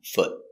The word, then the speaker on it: foot: four feet pronunciation one foot foot it's a stop t so we don't say foot we put our tongue up and stop foot foot one foot remember